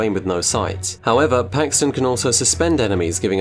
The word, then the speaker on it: Paxton: It starts with a P and it rhymes with Craxton, it's Paxton.